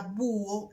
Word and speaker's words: búho: de la palabra búho, la H intercalada sirve para marcar el hiato. O sea que hay dos sílabas en esta palabra. También hay una separación entre la U y la O. La palabra búho se compone entonces de dos sílabas y no de una sola.